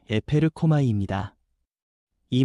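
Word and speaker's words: ἐπέρχομαι: 여기서 성령이 임하신다는 말은 헬라어 발음으로 에페르코마이입니다.이 말은 잠깐 스쳐 지나가는 방문이 아니라 이에서부터 실제로 덮치듯 임하여 삶을 바꾸는 능동적인 역사라는 뜻입니다.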